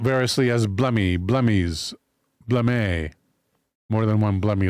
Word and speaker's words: Blemmyes: Blemmyes.